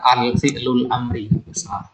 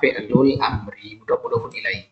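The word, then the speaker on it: فعل الأمر: kemudian Amri fi'lul Amri ini pengucapan yang benar ya Jangan katakan alfi'lul Amri yang benar adalah fi'lul amriai kalau fi'il Mi sama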